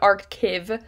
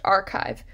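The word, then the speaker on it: arXiv: free academic archive is archive that sounds or looks like arc cave but the x is supposed to stand for the greek letter chi so it's pronounced archive this is a repository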